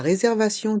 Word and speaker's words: réservation: La réservation d'une chambre d'hôtel. La réservation d'une chambre d'hôtel. Le T de réservation se prononce se quand il est suivi de ION.